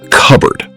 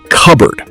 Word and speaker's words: cupboard: microwave microwave Phoebe Now, let's practice cupboard. Notice that native speakers don't pronounce every letter. Listen. cupboard You say it.